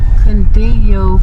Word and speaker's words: Cundiyo: Cundiyo Fire Station.